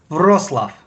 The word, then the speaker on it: Wrocław: Wrocław.